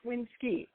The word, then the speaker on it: Winskye: should have told you my name is pronounced winski i knew it i knew